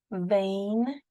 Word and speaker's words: vein: Rain, and then there's a silent G there, which you will also be practicing silent letters. Rain. Here is another one, vein, where we carry our blood around our body to keep us healthy.